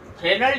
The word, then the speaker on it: Fresnel: इन फ्रेनेल diffraction, as silent है फ्रेनेल में, इन फ्रेनेल diffraction in Fresnel diffraction, incident and diffracted wavefronts are spherical or cylindrical.